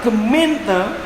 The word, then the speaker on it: gemeente: Padahal gemeente yang harusnya bacanya gemeente itu artinya ke kantor kota madya, ke kantor pemerintahan, gemeente.